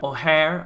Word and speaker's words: Ojer: the Gods and that they shouldn't be oer but rather oare which is the way